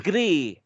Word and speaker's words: Gris: It's Gris.